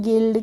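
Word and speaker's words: guild: इसको हम पढ़ते हैं गिल्ड क्या पढ़ते हैं गिल्ड पढ़ते हैं तो यू के बाद जब भी कोई बवेल आता है तो वहां पर हम उसका यू का प्रोनंसिएशन नहीं करते हैं ठीक है क्लियर है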